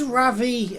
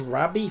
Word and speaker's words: Ravi: Oh, and it is Ravi. I thought it was Rabi for like rabbit. But I suppose like the Japanese sometimes pronounce V's like B's. So she is called Ravi.